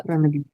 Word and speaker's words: L'après-midi: Very nice, l'après-midi, एक ही साथ, L'après-midi. इट्स नॉट la après-midi, okay? L'après-midi, एक साथ.